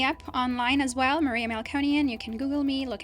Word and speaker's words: Melkonyan: my Instagram account which is monean firm and it's spelled m e l k o n y a n firm f i RM malconian is my last name feel free to look